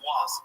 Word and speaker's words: Roy: the most beautiful names the world will really pronounce. Goaltender for Colorado, Patrick Waugh.